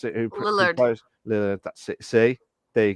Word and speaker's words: Lillard: might be sequels as Matthew Lillard, if I pronounce it, who Lillard. plays Lillard.